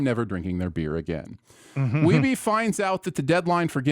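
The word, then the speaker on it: Wiebe: Day one begins with Sanders passing on Weeby's scores to Billy this time. He's scoring good scores, but not getting close to 1 million. Sanders clarifies the pronunciation of Weeby, not Weeb, for his last name, and everyone is impressed by his persistence.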